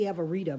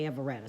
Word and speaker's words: Everetta: Well, it's actually Everetta, but everybody just say Everetta. So Everetta, Everetta, pronounce it however you want to.